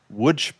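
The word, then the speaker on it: Łódź: which is located in Wood Poland which if you look at the spelling it says L O DZ it is pronounced wood.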